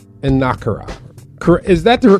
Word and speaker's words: Enukara: The first thing I saw when I was looking at your book title, it says Enukara. Is that the correct pronunciation?